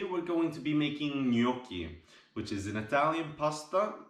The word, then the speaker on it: gnocchi: justin and today we're going to be making gnocchi which is an italian pasta made from potatoes and flour and egg it's very simple very delicious just keep in mind that it's pronounced gnocchi the g in in italian is pronounced and